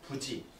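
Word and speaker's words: 不知: 구름이 깊어 부지 아니 불자인데 뒤에 지읒으로 시작되는 초성이 오면 리을이 탈락해서 부라고 읽습니다.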